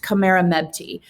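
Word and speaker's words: Khamerernebty: all of those jumble of letters but it's pronounced kamera mebty uh so king minkar and queen khmer mepti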